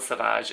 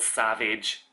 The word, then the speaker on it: Savage: And then it was actually a friend of mine at the time burst out laughing and she was like, it's not called Sauvage, it's called Savage.